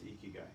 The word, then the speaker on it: Ikigai: It's Ikigai.